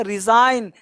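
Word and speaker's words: resign: यहाँ देखो, यहाँ पे क्या दिया, रिजाइन, त्यागपत्र। तो इस तरह से आपको पढ़ना है बच्चे, यानी एन से पहले जी साइलेंट होता है।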